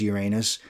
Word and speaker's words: Uranus: stalingrad some people say in operation uranus or uranus or however you want to say it it is uranus uh that was the